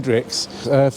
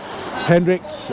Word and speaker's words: Hendrickx: are quite a few famous ice skaters called Hrix from Belgium. In fact, it's spelled H E N D R I C Kx.